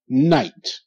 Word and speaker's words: night: other a high five high five okay good night n i night night okay K is silent GH is silent they makes no sound